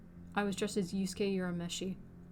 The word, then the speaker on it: Urameshi: was dressed as yusuke yura meshi or urameshi proper pronunciation from um yu yuhaka